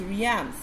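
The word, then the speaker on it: realms: So pronunciation is Riams. The L is silent over here.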